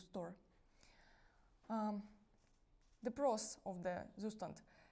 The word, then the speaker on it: Zustand: In German, in Zustand. In English, it's Zustand.